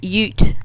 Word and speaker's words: Ute: say Ute for Americans if the U is on its own at the beginning like that or at the end like in emu it's pronounced you like you are an